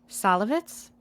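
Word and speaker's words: Szalavitz: Salavitz? Okay. I mean, I don't know. It's Salavitz, so perhaps you are pronouncing it correctly.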